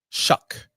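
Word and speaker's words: Shough: and I don't like how we pronounce this guy's name. Shuck. Looks like show.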